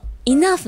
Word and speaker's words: enough: ねほはいでポイントイナフの発音ですうんイナふのふの部分ちょっと先週の数から俺ちょっと恐怖なんだよこのイノノフの部分は前歯で下唇をちょっとこう噛む